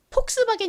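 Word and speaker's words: Volkswagen: 했듯이 독일식으로 읽는 거죠 독일어에서는이가 비읍 소리가 아니라 거의 읍에 가까운 소리가 난다고 합니다 그리고 또 이더는 원래 영어에서 는 무슨 소리가 나죠 우 소리가 나죠 우 그런데 독일 식으로는이 더블유가 비읍 소리가 난다고 해요가 비소리가 비소리 이렇게 발음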